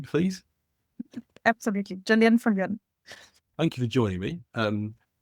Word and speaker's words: Viljoen: Now, Gillian, have I properly pronounced your name, please? Absolutely. Gillian Viljoen.